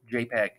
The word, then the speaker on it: JPG: ahead and open eagle.jpg that jpg is pronounced jpeg i'm gonna click on